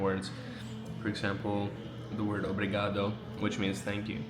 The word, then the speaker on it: obrigado: For example, the word obrigado, which means thank you. I've heard people say brigado, so they don't say the O.